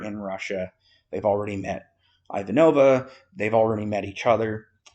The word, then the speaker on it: Ivanova: no her name is Ivanova that's how they pronounce it in the film uh and she is